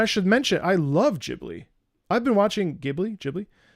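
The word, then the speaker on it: Ghibli: my buddy is it gibli J jibli it's jibli um it's pronounced GIF GIF um neighbor todoro I watched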